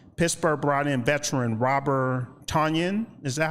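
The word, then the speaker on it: Tonyan: Last year, Pittsburgh brought in veteran Robert Tanyen. Is that how you pronounce his name? Robert Tanyan.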